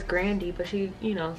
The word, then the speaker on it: Grande: obsessed bravo ariana bravo did you know her last name's grandy did y'all know that people just started calling her grande because i guess they could they didn't know how to pronounce that's you know the spelling or whatever but i was watching this interview and her last name was grandi but she you know